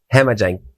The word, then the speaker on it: Jhemajang: and plant brand called Hemajang. Well, you're talking about making up words. This is the weirdest word. You're going to have to spell it for everybody. Hemajang is JH. The J is silent.